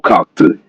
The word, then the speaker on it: kalk: The root kalk has a sharp sound due to the LK cluster. Stress the first syllable.